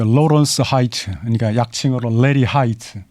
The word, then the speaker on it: Hite: 그 로런스 하이트, 그러니까 약칭으로 레리 하이트. 근데 성인 HITE, 하이트 맥주 우리나라 브랜드 있지 않습니까? 그 스펠링이 같습니다.